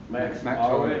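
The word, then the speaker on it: Euwe: Oh, Max Arwe, whatever you pronounce it in English, we say Ewe, but it's Arwe.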